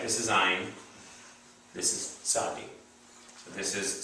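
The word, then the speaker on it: Tsadi: Right, this is Ein, this is Sadi. So this is silent letter, and this one is TZ, or sometimes transliterated as TS, like mitzvah, right? Or tzedakah.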